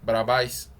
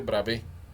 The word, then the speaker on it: Bravais: Ya muy purista la R la dicen con la garganta, como en francés, es un nombre francés. Por eso no se dice Bravais, se dice Bravé.